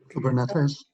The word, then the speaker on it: Kubernetes: Kubernetes, I can't pronounce that properly, so. Kubernetes?